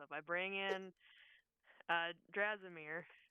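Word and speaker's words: Dimir: extra help so if I bring in uh dmir right uh that that is how you pronounce it yes if you ask if if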